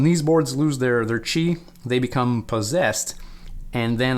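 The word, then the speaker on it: Qi: these uh these it says key but it's pronounced chi this is your life basically your life points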